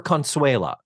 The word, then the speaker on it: Consuela: And by the way, she needs the car for Consuela, whom we never meet. Right. Right. We never see Consuela. Her maid consuela is the way she says it. Four syllables. Consuela.